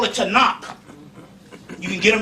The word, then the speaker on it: Tanakh: big and they got a book called the tanakh you can get them right there in barnes and nobles and borders the tanakh it's it's pronounced t-a-k-a-n-a tanak it's the way it looks but it's pronounced to knock and it's an old testament that's this thick